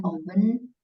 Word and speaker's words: often: My sister often works outside. Jadi T-nya nggak dibaca.